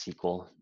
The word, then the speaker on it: SQL: of platform-as-a-service are azure SQL pronounced sequel database salesforce Heroku AWS